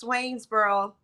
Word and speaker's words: Swainsboro: town oh I'm a country girl and it's pronounced Swainsboro Georgia Swainsboro Now where's it near I'm it's in right